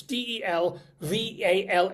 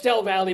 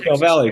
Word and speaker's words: Del Valle: It's D E L V A L L E which should be pronounced Del Val, but no, it's Del Valley because it's Del Valley because it's Texas.